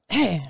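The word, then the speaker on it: Aych: a dude out there he goes by H and it's spelled a-y-c-h that's who I met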